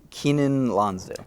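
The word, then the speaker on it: Keiynan Lonsdale: Keenan Lonsdale. Keenan Lonsdale, and he will be a series regular.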